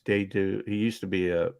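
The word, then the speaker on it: Dedeaux: his name jody it's de du he used to be a a pitcher with the dodgers it's d e d uh e a u x uh uh dado they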